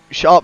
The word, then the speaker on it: Zarp: I got a message from Zarp last week, actually telling me to pronounce it as Sharp. So Sharp, he's just making his way around the 3rd sector now.